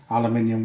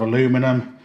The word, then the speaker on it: aluminium: beginners tend to favour aluminium wire. It's easier to work with. If you're watching this in the US, you'll realise I'm pronouncing aluminium instead of aluminum. It's the same thing.